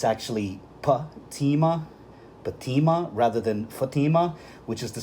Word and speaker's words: Fatima: corresponding Hebrew characters and the main difference is where the emphases are you see in the name in the tarum the first syllable is short while the second syllable is long fima and in the Islamic name and that Muslim name it's the reverse the first syllable is long while the second syllable is short Fatima right now on a